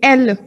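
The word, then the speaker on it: elle: L. L. Perfect. E-double-L-E is pronounced as the English alphabet L.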